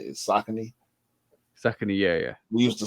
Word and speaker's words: Saucony: I think those are the two ways we always pronounce it, either Saucony or Saucony. I think the correct pronunciation is Saucony. Saucony, yeah.